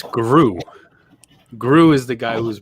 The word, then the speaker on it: Gru: groot is from uh no not groot group rude groot no it's just gru like gru as in you grew two inches over the summer like